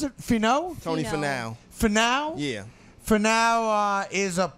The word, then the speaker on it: Finau: Finau, how do you pronounce it? Finau? Tony Finau.